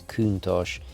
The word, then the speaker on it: Countach: effectively than the tributo now the pronunciation I believe is countosh it's one of the